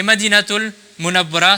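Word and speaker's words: Madinatul Munawwarah: Et madinatul munabara, c'est encore mieux de le prononcer comme cela.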